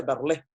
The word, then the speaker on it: Verlaine: Se escribe Verlaine, se pronuncia Verlé, ¿ya?